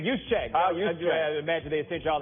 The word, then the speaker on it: Juszczyk: Because what is amazing about Shanahan, dudes like your man, was it Usage? Is that how you say it? Juszczyk. It's Juszczyk.